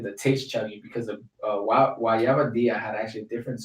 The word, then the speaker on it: guayaba: Oh no, yeah, it is guayaba.